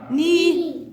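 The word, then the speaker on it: knee: سكول السي الاتش سايلنت ني الكي سايلنت.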